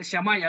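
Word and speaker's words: Shammai: primero era el famoso shamai ya en otros documentos ustedes van a encontrar escritos shamay con dos heces y sin h pero se pronuncia chamaya algunos lo traducen así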